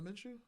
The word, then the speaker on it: Minshew: Oh, Gardner Minshew.